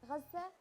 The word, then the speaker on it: غزة: So غزة. Yeah, you see what I mean? غزة. مدينة is city. غزة. مدينة غزة.